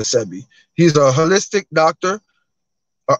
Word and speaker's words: Sebi: the dr sebby way some pronounce his name sebby and some pronounce it uh um cb some say cb dr cb some say dr sebi i pronounce it dr sebi he's a holistic doctor